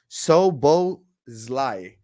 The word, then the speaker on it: Szoboszlai: things um great signing by the way it's pronounced Sobo is life Sobo is like okay thank you arbans for